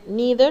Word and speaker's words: neither: Again, neither, you can pronounce it as neither or neither. Both are correct.